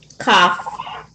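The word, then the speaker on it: כף: that all right and the next letter is a what cough cough okay and it makes a k sound as in Kitty I know y'all see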